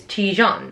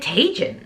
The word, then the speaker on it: Tijan: But like, yeah, that's how it's supposed to be pronounced, is Tijan. But some people were pronouncing it Tajin.